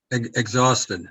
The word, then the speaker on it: exhausted: your dog hey and you don't pronounce the h yep there you go